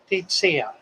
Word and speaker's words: Tesia: Tetsia. Tetsia. Did I say it correctly now? She's got a comment up there. She said it's basically said like Teetseeya. Tetsia? Titsia. Titsia. Tetsia. Ah, okay. Titsia.